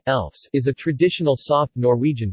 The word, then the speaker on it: lefse: Lefse Norwegian pronunciation, Elfs, is a traditional soft Norwegian flatbread.